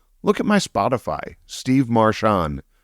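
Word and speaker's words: Marchion: Steve Marshon, spelled the same way.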